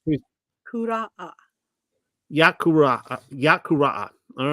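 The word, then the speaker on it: Vayikra: We're starting Leviticus, and can you pronounce the name in Hebrew for us, Pamela? I can. It's QURA. Sounds pretty- QURA. Yakuraa.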